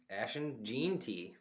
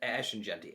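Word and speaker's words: Ashton Jeanty: name so give us the number one pick Ashen Jey no I'm just kidding Ashen jenty I actually pronounced his name correctly with Billy and just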